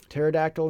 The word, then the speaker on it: pterodactyl: and they know that the flying dinosaurs start with a PT instead of a T cuz that makes T sound a silent P right with the P N and the PS pterodactyl and sure honored honored